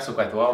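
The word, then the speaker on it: SOHCAHTOA: Voilà, il faut prononcer un petit peu le H, sinon ça n'a pas de sens.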